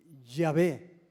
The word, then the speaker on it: Yahvé: ¿Quiere que le diga la palabra Jehová? No son letras. ¿Es qué? ¿Un qué? Yahvé. Es una respiración. Ahí está más bien pronunciado.